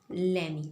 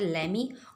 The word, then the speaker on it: lemme: है, इसको हम शॉर्ट फॉर्म में लिखते हैं लेमी। ठीक है, इसको लिखते हैं LEMM और E। ठीक, और इसे हम किस तरह प्रोनाउंस करते हैं? लेमी। लेट मी को हम किस तरह प्रोनाउंस करते हैं? लेमी।